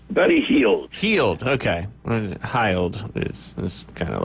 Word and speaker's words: Hield: his name correctly, but Buddy Hield, if I pronounce that correctly? Buddy Hield. Hield, okay.